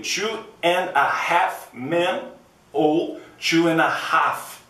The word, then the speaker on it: Two and a Half Men: and a Half Man isso é um erro em inglês é Dois Homens e Meio Two and a Half Men ou Two and a